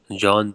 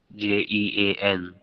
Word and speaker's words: Jean: So the name of his valet is John Passportout, but the pronunciation is different. Jean and Passepartout.